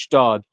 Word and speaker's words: Gstaad: Yeah, because you got in Switzerland, you got a place called it's spelled Gstaad, spelled pronounced Stad, and it's just like you go there and it's like, yo, if you're there, Yeah, God.